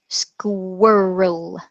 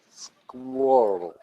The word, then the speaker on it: squirrel: squirrel squirrel squirrel squirrel squirrel okay you're getting you're getting better you want to work on your your old squirrel because this ole sound is in words like girl and pearl which means to throw